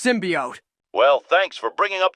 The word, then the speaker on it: symbiote: whole crisis with the symbiot they're literally based in New York for sake it's pronounced symbiote well thanks for bringing